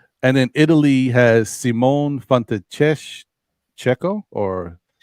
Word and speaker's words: Fontecchio: And then Italy has Simone Fontecchio or Fontecchio. Maybe it's a hard C there. 2 C's.